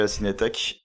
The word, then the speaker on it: La Cinetek: je savais pas que ça s'appelait la Cinétech et je pensais pas que ça s'écrivait comme ça même d'ailleurs pour la petite anecdote. Alors ça s'écrit alors la Cinétech, comme là, Ouais. L-A-C-I-N-E-T-E-K. Voilà, moi je Voilà, voyais ça comme d'accord.